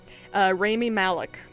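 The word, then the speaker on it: Rami Malek: want to say his name was rammy yeah remy malek r-a-m-i malik ramy malik um like i said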